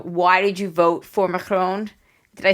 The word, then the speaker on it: Macron: for you know why did you vote for macron did i say it right shandy that was